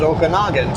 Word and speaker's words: Okanagan: the Okanagan River can Canadian spell Okanagan with an A and the US with an O So if you pronounced it the Canadian way you could say no Oka Okanagan if you pronounce it the US way it could be the Okanogan but halfway in between is Okanagan so we both pronounce it Okanagan it's not Okanagan or o Okanogan it's Okanagan US and